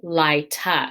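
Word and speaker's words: laeta: then the feminine form laita remember this ae together is pronounced i so litus and laita uh i will always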